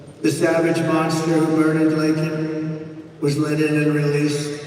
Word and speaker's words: Laken: Laken Riley, got to know her family very well. They didn't get to know the family. And then he pronounced her name wrong. Remember, he called her Laken.